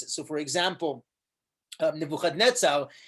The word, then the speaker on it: Nebuchadnezzar: So for example, Nebuchadnezzar is actually Nabuchaduri Usur. It's not Nebuchadnezzar, it's Nabuchaduri, like Nebuchadrezzar. You actually have it pronounced like that in Yirmiyahu.